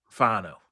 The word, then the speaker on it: Fano: Like put it put an H in there. You know, maybe even like an HW sort of thing. Right. Fano.